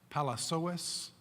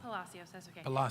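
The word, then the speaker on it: Palacios: call up is Palace owes and I might have mispronounced that did I pronounce your name right or wrong Palacio I kind of signed up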